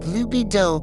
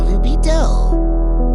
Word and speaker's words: lubido: Now, if you were speaking ecclesiastical or church Latin, it might sound a bit more like luby do closer to the Italian pronunciation. For our journey today, we'll stick with the classical lubido.